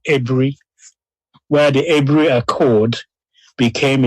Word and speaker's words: Aburi: But I hope overall we got the idea why Aburi, I'm told it's pronounced Ebri, where the Ebri Accord became a discord.